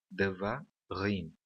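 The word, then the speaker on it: דְּבָרִים: Da mesma maneira que devarim nós pronunciamos com o acento na última sílaba.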